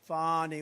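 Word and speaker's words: Fani: about fonny Willis right has anybody fonnie it's pronounced Fon F A ni I that's Fanny but she likes it funny when she became the whatever she became da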